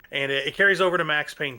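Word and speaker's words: Payne: Um, it's spelled P A Y N E, but um, you know, whatever. P A Y N E for pain or pain, whatever you want to say.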